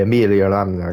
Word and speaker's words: Emilia-Romagna: Right, guys, as we approach the end of the formation lap around the Emilia-Romagna Grand Prix, I have to kind of do it in that Italian accent, otherwise you pronounce it like an idiot.